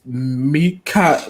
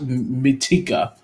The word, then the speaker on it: Mitaka: His name is Lieutenant Mitika. Mitaka.